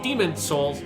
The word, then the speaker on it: Demon's Souls: remember is not called demon souls it's called demon's souls which i always forget and then i type in like oh right if there's a possessive s there that nobody ever pronounces so demon souls this